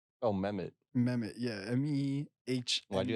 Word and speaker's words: Mehmet: Because I'm guessing that the H is there, so I'm trying to like pronounce it. It was Mehmet. Because like you gotta say the H, right? like it's just in there, smack in the middle for some reason.